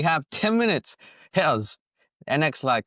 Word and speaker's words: Nextlight: NX light. Could you tell us how do you pronounce it? NX light. Is that right? Or next light? Uh, next light. Sure. Okay. Yeah. Next light as in NXT Li T.